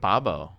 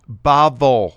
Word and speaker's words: Bavel: Wait, Babo. Bavel. Oh, Bavel. Oh, You're sorry. Weird at Is it really pronouncing Bavel?